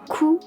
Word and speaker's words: coup: The final PE of coup is silent.